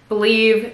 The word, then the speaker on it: belif: I don't know how to say the brand, if it's Belif or Belif. Believe, it's B-E-L-I-F, it's a Korean skincare brand, and it is so good.